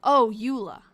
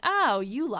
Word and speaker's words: Eola: And that's how I figured out it was called the Morse, the Ira Morse school, pronounced U. Oh, Ula. Oh, yeah. Cuz it's E O L A. Oh, Ula.